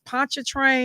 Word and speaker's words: Pontchartrain: He's from, and I always mispronounce it, but I think it's Pontchartrain.